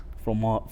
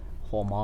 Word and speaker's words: fromage: Well, like there's fromage. And that's just G. Fromage. There's no hard G in French.